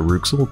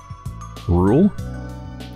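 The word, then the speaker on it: Rouxls: you sell Bruxelles Roux that makes me think that maybe you're not supposed to pronounce that rooks little but rather rule rules rules rules rules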